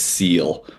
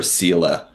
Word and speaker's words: Seele: but actually soul, which can't pronounce German, but I think it's seal or seele.